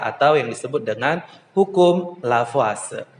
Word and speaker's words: Lavoisier: yang disebut dengan hukum lavase nah sini ada tulisannya lavoisier nah lavoisier ini adalah tulisannya karena beliau adalah berkebangsaan Perancis maka kita membacanya adalah lafazh ya Hai kawan semuanya